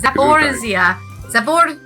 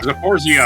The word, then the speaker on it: Zaporizhzhia: will get that story Zaporizhzhia. soon. Yeah. Zaporizhzhia. Well, that's how he was saying it in his. He was like, "This is how a Ukrainian would say it."